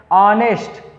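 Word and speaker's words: honest: अब ध्यान दीजिएगा, यहाँ पर दिया गया है ऑनेस्ट, देखिए लिखते हैं हॉनेस्ट, लेकिन जो एच है ये साइलेंट रहता है, तो क्या हो जाएगा, ऑनेस्ट पढ़ते हैं, ऑनेस्ट, ऑनेस्ट।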